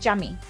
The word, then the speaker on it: Yami: Actually, he pronounces it Jami.